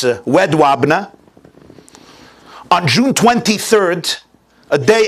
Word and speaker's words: Jedwabne: It's pronounced in English Jedwabne. I believe in Polish it's Wedwabne.